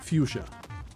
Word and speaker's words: fuchsia: How do you pronounce the word fuchsia? F-U-C-H-S-I? You pronounce it, even the spelling is challenging. And I'm pretty sure the answer was fuchsia.